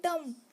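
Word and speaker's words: dumb: सो पढ़ना डम्ब, क्योंकि बी क्या होता है फ्रेंड्स, साइलेंट होता है, छिप जाता है, बोलने में छिपता है।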